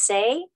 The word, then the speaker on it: Tse: mudra there's a mudra it's spelled t s e but it's pronounced say and it's um it's